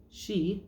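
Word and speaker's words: Sidhe: from the tarot of the she which is spelled like that she is how you pronounce it which is a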